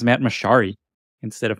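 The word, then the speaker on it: Mochary: And by the way, his name's pronounced Matt Mochiari instead of Machari.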